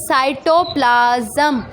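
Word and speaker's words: cytoplasm: साइटोप्लाज्म, पहले तो आप इसको ज़रा प्रोनाउंसिएट सही तरीके से करें। This is साइटोप्लाज्म।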